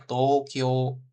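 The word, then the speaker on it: 東京: Tapi kalau secara hiragana dia ada U-nya dua kali. U di sini sama Kyo, U lagi di sini di belakang gitu. Secara hiragana Tokyo gitu ya. Tapi bacanya Tokyo. Jadi agak panjang O-nya. Seperti itu.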